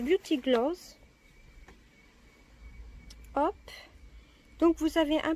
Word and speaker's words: Beauty Glazed: Ça se prononce Beauty Gloss.